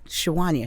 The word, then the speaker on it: Sawanya: My grandmother actually calls me Sawanya because that's how it's spelled.